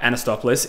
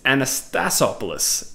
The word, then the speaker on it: Anastasopoulos: wrong the first time it's not anastopoulos it's anastasopoulos anastasopoulos I think I've got that